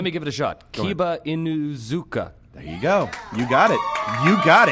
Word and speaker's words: Kiba Inuzuka: one of those character names that luckily everyone pronounces right really well let me give it a shot kiba inuzuka there you go you got it you got